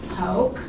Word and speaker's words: Hoch: you start yes my name is Hulk has been my maiden name and Hulk h-o-c-h